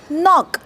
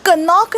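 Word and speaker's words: knock: नॉक नॉक आपण कनॉक नाही म्हणत नॉक किंवा हा शब्द बघा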